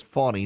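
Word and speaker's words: Fani: and by the way I've said Fanny Willis and uh someone told me the other day it's fonny not Fanny F ni is the pronunciation I've been saying Fanny but it's fonny apparently um the Georgia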